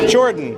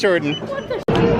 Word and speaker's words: Jordan: Can you pronounce your name? Your first name? Jordan. If you were wondering how to pronounce my name, it's Jordan.